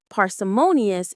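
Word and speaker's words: parsimonious: It has five syllables. Listen closely. Paras parsimmonious. The main stress is on that third syllable mo parsimmonious.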